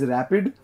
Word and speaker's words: RAPD: Options are PCR and RAPD, pronounced as rapid, Northern blotting, electrophoresis and HPCL, and the fourth option is the microscopy.